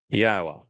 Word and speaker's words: Yahweh: of his people that Yahweh, which is God's name properly um articulated based upon haya and Torah which provide us with the instructions on how to pronounce it.